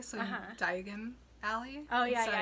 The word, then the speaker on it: Diagon Alley: oh i always say he also pronounces diagon alley as di as something else i i've never heard i never heard it sounds more like diagonally so diagon alley oh yeah diagon alley it's interesting well we're